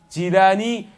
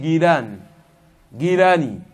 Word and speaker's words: Jilani: Jilani, sa vraie prononciation c'est Gilani.